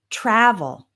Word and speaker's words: travel: These are two-syllable verbs with the stress on the first syllable. We have answer, travel, study, okay?